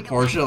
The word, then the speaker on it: Portia: you can be there literally Porsche like the car yeah I don't